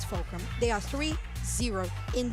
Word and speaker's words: Fulcrum: In my head as well, I did say Vulcram at one point like like kind of like vulture like V.